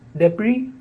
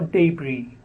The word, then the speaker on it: debris: the next word is debris or debris the last s in the spelling is silent so debris or debris the next word is